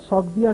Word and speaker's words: سوگدیا: سکندر کا رخ تھا سوگدیا کے شاہی محل کی طرف۔ اب وسطی ایشیا کے ملک سغد کو یونانی تلفظ میں سوگدیا کہا جاتا ہے، تو سوال یہ ہے کہ یہ سوگدیا کہاں سے آ گیا؟